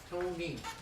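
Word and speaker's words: Toney: Tony, Tony. like money.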